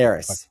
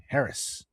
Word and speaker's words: heiress: I always fuck Heiress. that way. Heiress. No, German not heiress. you don't pronounce the H.